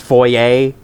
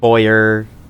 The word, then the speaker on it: foyer: Also, isn't like the opening room of a house supposed to be pronounced foyer, but uh some people say voyer, and I guess that's an accepted pronunciation, but still.